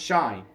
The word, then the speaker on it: Shai: My name is Shai. It's pronounced Shai.